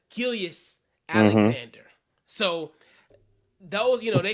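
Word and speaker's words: Gilgeous-Alexander: i don't know why i call it gilgris but it's gillius alexander so those you know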